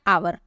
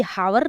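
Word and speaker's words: hour: क्या है ओ है एच ओ य आर आवर इसे हम बोलते हैं क्या आवर ये हावर नहीं होता है ये आवर होता है एच जो होता है वो साइलेंट होता है तो कहीं पर भी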